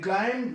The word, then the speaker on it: climb: In climb, that is a different word, and now we have to find out the silent letter in the end of the words. So इसमें B silent है.